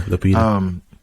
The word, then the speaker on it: Lupita: Yeah, Lupita.